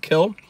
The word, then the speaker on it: Kiln: the edge of town kiln is which is actually pronounced kill uh brett favre is